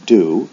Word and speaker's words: do: For example, do and go both end in an O, but one is pronounced do, the other was pronounced with an O sound, go.